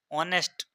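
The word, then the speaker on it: honest: जो कि व्यंजन है पर क्योंकि साइलेंट है उसका उच्चार नहीं होता ऑनेस्ट ऐसा उच्चार होता है तो ऑनेस्ट में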